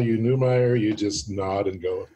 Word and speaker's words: Neumeier: like that you have kept your name Neumayer which is kind of the German spelling but the the English pronunciation so yeah we just